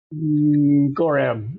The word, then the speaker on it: Gorram: Or how do you pronounce that anyway? Gorram? Gorram? Gorram.